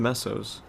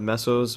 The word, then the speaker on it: mesos: thing i i actually i pronounce it meso like like pesos except mesos i say mesos because that's just because